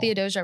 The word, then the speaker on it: Theodosia: Dear Theodosia. Theodosia, right? That's how you pronounce it?